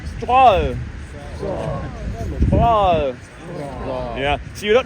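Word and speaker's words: Strøget: Struck it. That's very wrong. Say after me. S-T-R-O-G-E-T. Say after me. Stroll.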